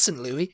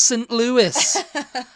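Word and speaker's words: St. Louis: Kentucky St Louis it's like no it's not St Louie it's St Louis Meet Me In St Louie yeah you know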